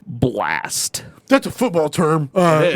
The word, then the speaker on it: Blxst: but it's You fucked pronounced Blast.